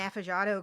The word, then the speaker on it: affogato: And it was It's like, called an affogato, Kristen.